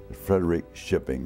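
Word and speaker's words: Frederikskoping: p i n g frederi shipping is the way they pronounced it my mother was from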